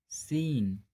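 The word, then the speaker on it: scene: Rule number, जब एस के बाद सी आता है तब सी का उच्चारण नहीं किया जाता है। जैसे असेंट, साइंस, सीन, डिसाइपल।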